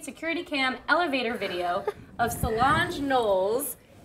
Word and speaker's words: Solange: TMZ has released an Uptain security cam elevator video of Solange Knowles. Solange. Solange? It's Solange. Softy? I just want to know how you thought it was pronounced.